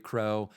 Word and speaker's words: Kroh: for a dermatologist, uh the last name is spelled K R O H because I know when I've given that toarmacies and stuff, they immediately spell it like the bird.